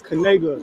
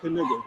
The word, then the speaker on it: Kanega: I just wanted to say it's Kanega, not Kaniga.